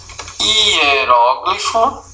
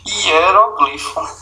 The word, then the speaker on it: hieróglifo: Existe o hieróglifo, ou você diz hieroglifo.